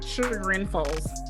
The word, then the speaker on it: Chagrin Falls: It actually takes place in Chagrin Falls, Ohio. I think it's how you pronounce it. Chagrin. There we go. Chagrin Falls.